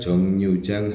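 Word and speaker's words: 정류장: 3 Jongnyeojang halte. Ada huruf mati R, ada huruf konsonan R di sini dibaca N.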